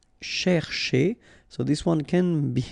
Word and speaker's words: chercher: Chercher. So this one can be a bit tricky if you look at it, because first, here, this first part, you've got to pronounce it cher, okay?